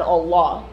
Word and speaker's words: Allah: By the way, it's Quran, Hajj, and Allah.